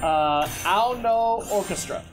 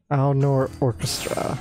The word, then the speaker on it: Ao no Orchestra: Ao no Orchestra. Ao no Orchestra. No, A-O space N-O. Ao no. Ao no, right. I believe that's how it's said.